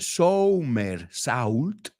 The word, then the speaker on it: somersault: So se escribe somersault, pero se dice somersault.